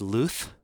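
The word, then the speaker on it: Luz: learned that that LZ Lu u z is pronounced Luth and I only know that Hebrew I don't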